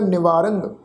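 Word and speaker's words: ਨਿਵਾਰੰ: निवारंग, निवारंग रारे उत्ते टिप्पी की मात्रा का नासिक उच्चारण होएगा निवारंग।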